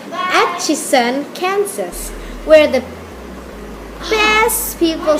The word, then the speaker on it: Atchison: Precisely, I was born on July 24th, 1897 in Ashton. I'm so sorry, I said it wrong. I keep saying my birthplace wrong because I didn't have much education. You know that, right? It's Atchison, Kansas, where the best people stay, good cuisine